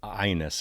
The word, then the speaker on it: Agnes: pronouncing her name correctly I say Agnes Obel that's not how to pronounce her name at all it's pronounced like this my name is I don't know how this I'm just going to call her Agnes I'm sorry I'll call her ionis I think that's what